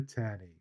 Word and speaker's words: Taney: Roger Taney. I think pronounced Tawney, but spelled Taney.